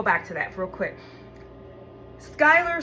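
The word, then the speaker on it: Schuyler: Skyler spelled s c h u y l e r leads people to think schuler because they pronounce that shu instead of sky, right?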